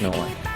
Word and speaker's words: iv1: on the Swedish game it's spelled iv1 but it's pronounced no one not not where your